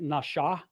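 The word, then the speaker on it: נשא: When it's over the right side, it's pronounced more like nasha. It's pronounced with a sh sound. When the dot is over the left, it's with a s sound.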